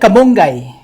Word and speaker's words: kamonggay: Okay, go ahead, spell it. Kamonggay.